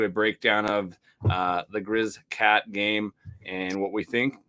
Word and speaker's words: Griz-Cat: is the week that we've been waiting for Grizz cat week uh that is how you say it